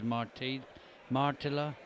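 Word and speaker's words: Marttila: Well, we'll keep an eye on the scoreboard, but this is Martila. Nearly put a Spanish pronunciation on a Finnish name there. Had to correct myself.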